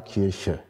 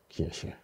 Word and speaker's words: Kirche: Ja, Sie sehen zunächst den Akzent, dann sehen Sie, da kommt irgendwie ein K-Laut, dann kommt ein I, dann kommt ein R irgendwie. Das R im Deutschen ist ja sehr schwierig, immer anders ausgesprochen. Und irgendwo ein R-Laut, dann dieses Sch, also der palatale Frikativ und dann ein Schwa, ein Neutralvokal, Kirche, Kirche.